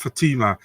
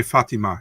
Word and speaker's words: Fatima: know yeah it's F she calls herself Fatima but over here we say Fatima you know what I mean so it's really confusing for me but she says Fatima so it's Fatima for her you know all right